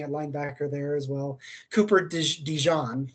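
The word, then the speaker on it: Cooper DeJean: linebacker there as well Cooper Dijon like the mustard is how you pronounce his name uh like that looked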